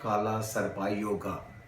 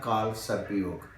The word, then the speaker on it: काल सर्प योग: मैं आपको बताऊ कि काला सरपाई योगा नहीं होता ये लिखने में ऐसे है लेकिन आप जैसे जिंदगी जब इसको पढ़ेंगे तो आखिर में हिंदी में ए साइलेंट हो जाता है तो इसलिए बना काल सर्प योग बहरहाल काल सर्प योग